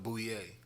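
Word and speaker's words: Bulleit: That Frenchy Bouillet. Oh, you said it right.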